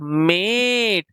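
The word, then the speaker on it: mate: म eight मेट ई जो है वह साइलेंट हो जाएगा। ई जो है लास्ट में अगर लगता है तो वह साइलेंट हो जाता है। लेकिन उससे पहले जो वोवेल होगा उसकी साउंड जो आएगी वो लॉन्ग वोवेल साउंड आएगी।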